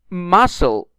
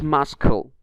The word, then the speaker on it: muscle: don't pronounce it climb we don't say climb muscle not muscle Wednesday not wedes day